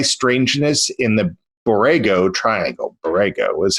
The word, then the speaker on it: Borrego: Borrego is how you say it.